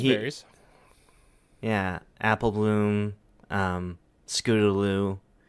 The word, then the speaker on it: Scootaloo: yeah apple bloom um scootaloo three syllables three syllables scooter lose one word technique yes yeah scootaloo is one word although it's technically hyphenated